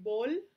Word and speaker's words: possible: So usually we say bol at the end because it's kind of easier for Spanish speakers to say bol, imposible, pero realmente es bol.